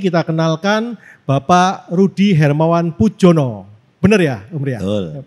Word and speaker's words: Poedjono: Oke, tidak berlama-lama lagi kita kenalkan Bapak Rudi Hermawan Pujono. Bener ya, Om Ria? Betul. Bener ejaannya ya?